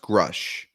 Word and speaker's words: Grusch: So it's pronounced Grush.